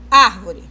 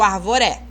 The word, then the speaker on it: árvore: Então, quando eu falo assim, árvore, eu não coloquei uma força maior no ar. Árvore. Eu nunca vou falar arvore ou arvoré, correto? Eu não falo arvore nem arvoré, eu falo árvore.